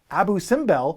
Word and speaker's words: Abu Simbel: leaders, and Abu Simbel, it's probably pronounced Abu Simbel, which is what I'm going with, which allows you to bury leaders for victory points.